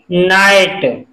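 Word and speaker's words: knight: के एन आई जी एच टी, इसमें के साइलेंट रहेगा, और इसको हम कैसे पढ़ेंगे? नाइट, जी एच भी साइलेंट है, नाइट।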